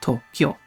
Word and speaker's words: Tokyo: Therefore, when have in when KYO, for example, like in Tokyo, it is, well, Tokyo. 2 syllables, because it consists of 2 words. 2 syllables. It consists of 2 syllables.